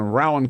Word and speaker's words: Rowan: latest from that circus d in Kentucky in Rowan County we just learned how to pronounce it from congressman John Yarmouth Rowan County